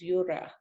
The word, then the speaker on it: Yura: No, well, linguistically, there are no E's in East Coast Australian languages, right? So first of all, Eora is completely wrong because it's spelt with an E and the sound E is wrong. And so the real word is Yura, Y-U-R-O-R-A, Y-U-R-A, Yura.